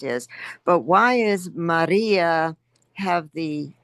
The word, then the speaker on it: Maria: Now, Maria, the second syllable, second from the end is long. Okay, that is a long I so that's where it gets accented.